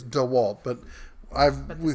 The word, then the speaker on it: DeWalt: Walt I it yeah correct pronouncing I believe is D Walt but I've the spelling